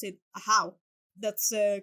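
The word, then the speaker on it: Ajaw: it as e in the game but they pronounce it a how that's a correct pronunciation and I was very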